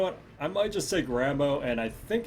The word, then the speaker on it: Rambeux: half tempted to play Rambo here to be honest or Rambo has his name I I know it's pronounced bow don't do it don't